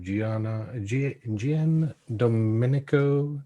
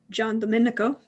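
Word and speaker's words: Giandomenico: cross by an artist by the name of gianna dominico typolo which butchered that name john domenico and he is the sun aha i knew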